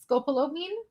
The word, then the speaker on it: scopolamine: So one of the most famous chemical examples that is very similar to like mind control and zombies is scopolamine.